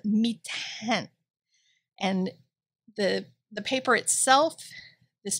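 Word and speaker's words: Mi-Teintes: It's called mitin. And the paper itself, this mitin paper, which I have heard pronounced so many ways in every art store, nobody knows how to pronounce it.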